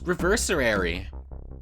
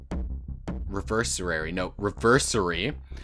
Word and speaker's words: Reversary: So, yeah, that was Reversary. Reversary. One less syllable there.